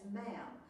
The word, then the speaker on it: ma'am: says but after that it's ma'am we're rhymes with ham not Paul and but